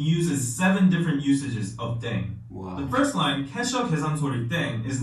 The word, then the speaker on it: ddaeng: playing with language now the pronunciation of deng is similar to thang which is a sign of thing in english last but not least